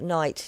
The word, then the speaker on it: knight: quite a few words with knight yeah as in like the knight you know shiny armor has k as well mm-hmm yeah see mandy's